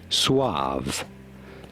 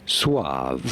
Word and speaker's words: suave: How do you go about pronouncing it? Suave. Suave.